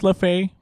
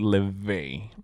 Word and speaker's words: Laufey: And this artist is Lefay. I thought it was Lefay, but you pronounced it Ley.